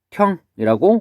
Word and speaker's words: 맏형: 맏형 보면은 아음절의 디귿과 뒤에 첫음절의 히읗이 만나서 마형이라고 이렇게 발음이 되겠죠.